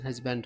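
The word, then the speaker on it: husband: मतलब मेरे हस्बैंड को इसको हस्बैंड पढ़ा जाता है हस्बैंड वैसे कहते हैं लेकिन सही प्रोनाउंसिएशन हस्बैंड होता है व्हेन जब आई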